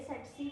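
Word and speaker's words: tsetse: कज कर रही है सेसी फ्लाई टीएससी टीएससी इसका प्रोनाउंस अलग है स्पेलिंग अलग है तो आप थोड़ा याद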